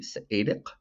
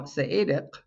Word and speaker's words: Seediq: The reason I overemphasize the pronunciation of the Q is to remind you and to remind myself that it's not a K. Now, Saedic means person or people.